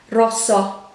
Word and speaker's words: rosso: open at the end so it's not rosso as if there was a h at the end actually rosso if you were to write it phonetically next one was just